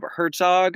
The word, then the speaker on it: Hartog: We have with us it's Jacob Herzog. I think that's how it's pronounced. Hartog is right.